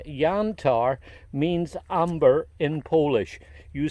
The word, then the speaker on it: Jantar: Now I'm calling it Jantar because this has a European pronunciation. If you look at the name here in America, we'd probably call it Jantar.